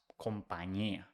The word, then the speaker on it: compañía: top, the ñ, and the ñ is pronounced ñ. So company becomes compañía.